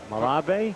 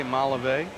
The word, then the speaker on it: Malave: ask you sir on how to pronounce that name m-a-l-a-b-e and you helped me out mulabee from the minor league days jose malevae mulliva who said i was wrong i didn't get it right mala bay okay foul